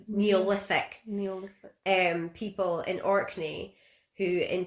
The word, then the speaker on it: Neolithic: And this is backed up by a Neolithic, I've said that wrong again, haven't I? Neolithic.